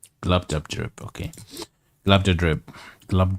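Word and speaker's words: Glubbdubdrib: Glub dub drib. Glub dub drip, okay.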